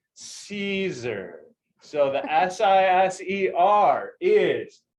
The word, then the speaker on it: Siser: for all of you is how to properly pronounce caesar so the s-i-s-e-r is say with me season